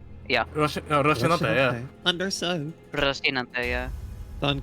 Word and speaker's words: Rocinante: That's how that's fucking pronounced. Yeah. Rocinante, yeah.